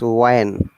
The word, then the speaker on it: when: It is not when, it is when.